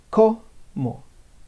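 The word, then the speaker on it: cómo: the actions right here every time you see an accent like right there on the cno on that syllable this is where you put an emphasis an emphasis right there so if you notice i say ko mo ko so every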